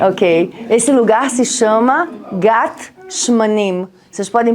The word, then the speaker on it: גת שמנים: Ok, esse lugar se chama Gat Shmanim. Vocês podem pronunciar Shmanim?